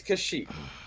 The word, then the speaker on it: Kashyyyk: It's Kashyyyk.